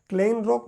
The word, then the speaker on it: Kleinrock: क्लेनरॉक बोल सकते हैं उनको, लियोनार्ड और क्लेन रॉक उनको बोलते थे। क्लेन रॉक का आपका स्पेलिंग अगर देखेंगे तो अपन जैसे लिखते हैं उससे थोड़ा सा उनका स्पेलिंग कुछ अलग तरीके से बना देते हैं।